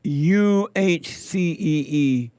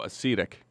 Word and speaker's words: acetic: Before I play that, Hake, he white, is telling us that we pronounced that Simone thing wrong. Uh-oh. Let me see here. Did you see it? He texted to you? Let me see. He said it's UHCEETICK. Oh, acetic.